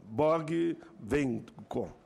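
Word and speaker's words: Borghi Venco: para a professora da Universidade de Campinas, senhora Selma, a pronúncia aqui é Borg-Venco. Por favor, socióloga do trabalho, professora Selma Borg-Venco, com a palavra.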